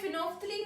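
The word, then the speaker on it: phenolphthalein: Phenol, इसे हम बोलते हैं फिनोफ्थलीन है, लेकिन जब हम लिखने लगे तो ऐसे लिखते हैं फिनोल पैथिलीन और प्रोनाउंस कैसे करते हैं? फिनोफ्थलीन।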